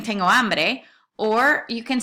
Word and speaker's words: hambre: Now be careful with the pronunciation of this one, right? Because you've got an ah there. That's just a slight difference from the word hombre, which means man. So hambre versus hombre, right?